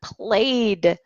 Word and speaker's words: played: We can also pronounce the word played with a D sound here.